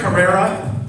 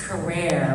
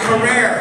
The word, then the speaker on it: Carrere: TI take a seat did I say your name right Carrera I got it phonetically spelled it's career oh you were right you were right career ah the paparazzi got